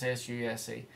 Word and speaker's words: SUSE: That's the latest SUSE distributions, and you can pronounce that SUSE how you like. It's SUSE.